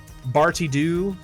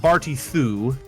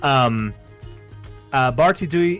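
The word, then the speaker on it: Barti Ddu: Funnily enough, Barty Doo or Barty Thu, because it is I believe it is DDU is how it is spelled, which is DH. The Welsh so T. the Welsh T. Barty Thu is a real alcohol that exists.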